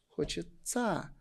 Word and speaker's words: хочется: Получается, мы никогда не обращали внимание, что я произносится как ца. Хочет ца заниматься.